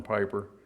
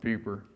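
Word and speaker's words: Peiper: East under General peeper we call him Piper but the Germans pronounce it peeper and he had the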